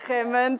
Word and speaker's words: Geman: We have Raymond Geman, did I pronounce that correctly? Yeah, Geman, sorry.